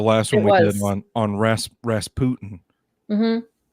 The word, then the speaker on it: Rasputin: I still don't know if it's Rasputin or Rasputin. I mean, probably Rasputin. You know, like Putin. Yeah. I mean, American pop culture, he's Rasputin, but yeah, it was always pronounced before as Rasputin.